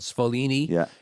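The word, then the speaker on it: Sfoglini: So, the original version of Cascatelli is made by a company called Spolini in upstate New York. It's spelled SF O G L I N I. It's the G silent, but it's in stores around America.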